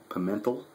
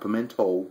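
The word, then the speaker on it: Pimentel: s p space pental I think I'm um you know pronouncing it right p i m n t l pimental not Pento pementel Elvis Pento man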